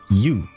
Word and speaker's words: ewe: ewe, that's how you pronounce that, after formation.